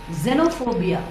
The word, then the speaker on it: xenophobia: Z and next word also begins with x followed by E like the first word but it is not xenophobia it is Zeno xenophobia Zeno it's a fear of